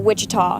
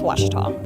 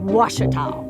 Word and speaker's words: Ouachita: Back in Texas, everybody pronounces it Wichita, but really, it's Washita. Washita.